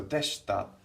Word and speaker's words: でした: So deshita. We have in Romaji we write an I. We write this I here, but we don't really pronounce it.